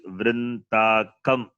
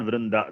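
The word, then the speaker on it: वृन्तकम्: It is not Vrindaham. It is Vrintakam. It is. Vrindakam. It is not Vrinda. That is wrong. It is Vrinta.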